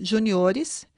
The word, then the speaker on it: juniores: Além do no plural ser acrescentado também ES, ocorre um deslocamento da sílaba tônica. Júnior, juniores, caráter, caracteres, sênior, seniores.